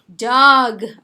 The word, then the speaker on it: jug: jug ออกเสียงเกอด้วยนะคะ jug แปลว่าเหยือกน้ำ And we've got garbage.